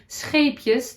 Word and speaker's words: Scheepjes: It's always quite hard to pronounce for English speaking people, but it's a Dutch brand and we say Scheepjes. The g is quite hard.